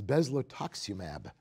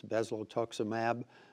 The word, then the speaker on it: bezlotoxumab: I warned you there was a drug I might have trouble pronouncing, and here it comes. It's Bezlotoxumab.